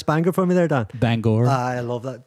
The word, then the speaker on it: Bangor: Would you pronounce Banger for me there, Dan? Bangor. I love that. Bangor.